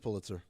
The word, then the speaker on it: Pulitzer: It's pronounced Pulitzer.